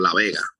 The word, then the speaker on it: La Vega: The town that I'm from is called La Vega, Uh. kind of like Las Vegas, but it's La Vega.